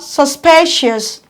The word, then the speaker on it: suspicious: on the second syllable we also have suspicious suspicious counter from the back one two your stress falls on the second syllable you have to strike